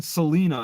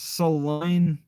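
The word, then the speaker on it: Salina: really selena oh like the pronunciation is oh was i keep saying selena it's saline so like saliva right i just keep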